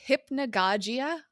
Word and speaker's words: hypnagogia: It's pronounced hypnagogia.